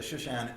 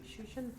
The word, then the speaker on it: Shushan: Is there another reference to, trying to pronounce this correctly as a reader? Shoot. Edith? Shushan? Yes, Shushan thank you.